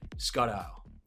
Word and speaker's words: Skoddow: you to why Scott owl did I pronounce your last name right yes this is pronounced correctly thank you awesome and